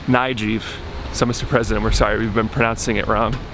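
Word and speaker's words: Nayib: president came in, we're finding out it's actually pronounced Nijiv. So Mr. President, we're sorry, we've been pronouncing it wrong. Even though it's spelt, an American would pronounce it Naib. The correct pronunciation is Nijiv.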